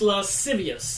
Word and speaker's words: lascivious: Pronounced lascivious, thank you.